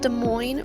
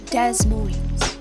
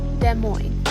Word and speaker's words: Des Moines: a more Central Capital it was decided that De Moine would be the new capital De Moine is more Central than Iowa City but still slightly Southwest and yes it is pronounced de Mo not Des Mo please don't do that which is French but